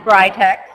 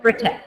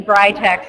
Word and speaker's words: Britax: pronounce it okay well here in the United States we do pronounce it as brightex uh although in Europe they pronounce it as Britex okay okay so it's